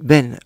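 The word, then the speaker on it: בין: Même quand on parle de Ben, entre, il y a un Yud entre le Bet et le Yud, mais on prononce Ben, entre, comme Ben, fils.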